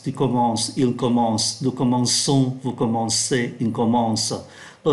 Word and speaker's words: commençons: Nó viết là C, nhưng mà nó đọc là S.